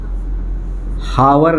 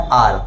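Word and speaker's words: hour: मैं लिखता हूँ 1 आवर, इसको कैसे रीड करते हैं, हावर नहीं पढ़ते हैं, इसको क्या पढ़ते हैं, H साइलेंट है, क्या पढ़ते हैं R, क्या पढ़ते हैं, ये आवर भी नहीं होता है, ये आवर नहीं होता, इसको क्या बोलते हैं R, समझे, ठीक है ना।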